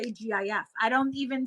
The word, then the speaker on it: GIF: Nene welcome in GF is pronounced GIF like the peanut butter hello JRE it's game